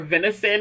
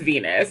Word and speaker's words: Venus: always said I think I called her a venison in my vlog. Her name is Venus, and I don't know why my brain could not conceptualize her name to the point that I kept saying it wrong.